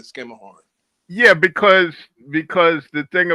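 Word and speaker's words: Schermerhorn: You're not going to call it I don't know anybody that I've ever been with in New York call it anything other than skimmer horn.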